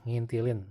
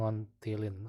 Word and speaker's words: ngintilin: Bye-bye bacanya, ngintilin, bukan ngontilin, apalagi ngon, Jadilah akhirnya Aneh berdua si Udin akan bubur ayam di langganan Aneh.